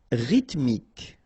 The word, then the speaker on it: rythmique: Rythmique. Remember, Y pronounced like I and then H doesn't exist.